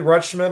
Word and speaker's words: Rutschman: Adley Ratchin, or how do you say it? Adley Rutschman, and then Adley Rutschman, yeah.